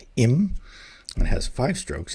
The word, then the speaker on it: 임: And so this is the the hungul is pronounced im and it has five strokes.